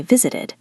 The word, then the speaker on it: visited: If the verb ends in t or d, you need the extra syllable like the word visit. Visit ends in t. So in the past we say visited.